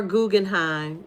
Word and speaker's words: Guggenheim: I was I was looking I was like let me make sure I pronounce it right. They are Guggenheim glass not glasses scissors.